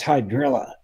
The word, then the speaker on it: hydrilla: and they went that's hydrilla uh it rhymes with Godzilla uh it's horrible it's